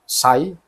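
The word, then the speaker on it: ψ: dia bisa dinyatakan sebagai ini huruf Yunani juga dibacanya Sai atau bahasa gitu ya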